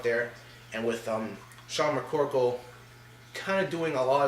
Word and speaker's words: McCorkle: see stefan schroed versus sean mccorl and mccorkle sorry again my bad if i pronounced the name wrong corrected myself there and you're gonna see